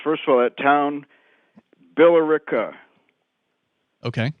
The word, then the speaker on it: Billerica: First of all, that town, Billerica. Okay. Not I mispronounced it.